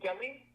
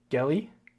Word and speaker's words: gelly: don't mispronounce it um it's gelly gelly yeah like Kelly but the okayy okay perfect got